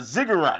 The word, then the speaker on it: ziggurat: a cigarette a cigarette is it a a ziggurat is that am i saying it right let's let's not go too much further into yeah we are on twitch right um no you're saying it correctly yeah uh you don't